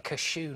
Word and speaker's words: cashew: I saw a guy yesterday eating cashew nuts. Sorry, how are you pronouncing the word before nuts? Cashew nuts. Cashew nuts? No, you're doing it a bit too like a sneeze.